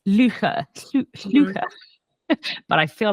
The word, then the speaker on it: Llwchwr: But I know how it should be. It's Llwcher.